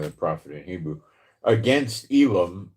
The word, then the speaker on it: Elam: prophet in Hebrew, against Elam. In English, it would be Elam, and in Hebrew, you'd pronounce it Alim.